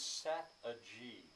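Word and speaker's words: sat a gee: the end of it he sings sat a g uh to rhyme with strategy sat a g well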